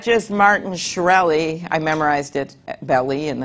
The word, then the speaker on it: Shkreli: his name again Martin it's not just Martin shkreli I memorized it belly and then I forgot